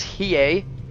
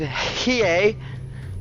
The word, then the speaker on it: Hiei: have it down with Hiei. Perhaps more emphasis on the H for more of a hey, but that remains to be determined. For now, he will just simply be Hiei.